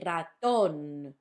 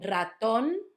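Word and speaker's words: ratón: this word, and then you pronounce it raton, because the tilde, focus on the tilde, or remember, notice the tilde. Basically, tildes are those straight lines that come out of vowels only, and they tell you what syllable of the word or what vowel of the word has to be stressed.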